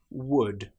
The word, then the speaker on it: would: Another time when the letter L is not pronounced is when we have the letters U, L, D. For example, the word would, could, should. In these cases, again, the L is completely silent.